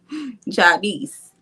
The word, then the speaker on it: Jadice: Yeah, I guess because it looks like it's spelled Janice. I guess. Yeah, it does. It does. It does. But that's okay. That's okay. Jadice. Get it right. Don't forget the ja.